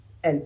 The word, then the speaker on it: elles: Elle, celui-là aussi se prononce exactement de la même manière que elle au singulier. Elle. Mais de nouveau, le S, il va falloir le prononcer pour faire la liaison.